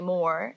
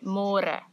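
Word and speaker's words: meer: easier but it just you have to remember to read more because in English it's spelled like more so don't say more say more and the older generations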